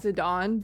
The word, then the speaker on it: Zidane: I'm just going to take Zedane and put him over here. I believe the correct way to say it is Zidon, but I've always said